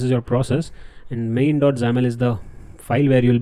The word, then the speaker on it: XAML: zaml xaml extension that we pronounce at zaml so all these files